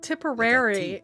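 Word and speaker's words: Tipperary: to go still typy no that comes later tiporary is how that's pronounced little incident will take place in Doncaster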